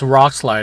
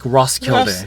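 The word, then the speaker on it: Roskilde: I call this place Rocklide. I know that's not how you say it, but we also I agree. Ross, it's it's like Rosskild.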